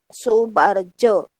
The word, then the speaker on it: Soebardjo: dari ejaan lama ya Misalnya oe oe oe itu sama dengan uud3 Lau tulisannya Ahmad Soebardjo maka dibacanya adalah Ahmad Soebardjo demikian juga pada kata